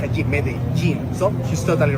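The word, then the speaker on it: Medellín: Ju in which we when we have two L's together, we pronounce it as G. It happens with pojo. It's not pojo. It happens also with medin. So it's not medalene.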